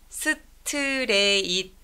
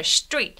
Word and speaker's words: straight: 스트레이트 이렇게 다섯 음절 아니고요. 얘는 surprisingly it's one syllable. 놀랍게도 이음절 단어예요. 우리가 영어 리스닝이 조금 힘든 이유는 straight라는 다섯 개의 음절을 기다리고 있는데 사실은 이음절 straight 하고 넘어가기 때문이다 라고 말씀을 드린 적이 있는데요.